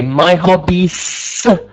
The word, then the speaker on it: hobbies: It's just that you should say my hobbies. I don't hear that S at the end of the words when you speak. That's a mistake. So you need to pronounce the S at the end.